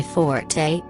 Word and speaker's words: forte: In that particular line, he pronounces forte as just fort, a much rarer but acceptable pronunciation.